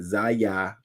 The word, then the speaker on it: Zaya: Zaza, am I saying it right? Zaya Wade.